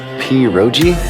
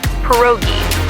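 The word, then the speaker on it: pierogi: Peroi. Did I pronounce that right? It's pronounced perogi.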